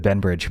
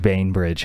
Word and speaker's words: Bainbridge: Bainbridge instead of Benbridge. Bainbridge, huh? Okay. No, that's how you say it.